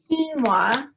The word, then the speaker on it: quinoa: make it with vegetable broth or just water quinoa is the ingredient that is was new to